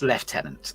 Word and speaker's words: lieutenant: It's lieutenant, okay. I know it's written Lou, but it's pronounced left.